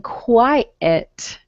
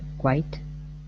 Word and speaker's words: quite: just watch your pronunciation you're saying quiet okay but quiet is not in that sentence what word is